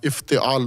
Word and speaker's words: افتعال: افتعال۔ افتعال، الف فے تے عین الف لام، افتعال، اس کو تلفظ، سانچے کا نام ہے افتعال۔ اس میں